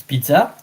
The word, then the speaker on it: pizza: but in French it's pizza. And Italian, if you have to say the word in front of an Italian, say with the T, pizza, pizza.